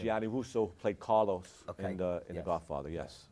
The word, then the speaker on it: Gianni Russo: Now the gentleman on the cover, that's Giovanni Russo? How do you say That's his name? Gianni Russo, played Carlos Okay.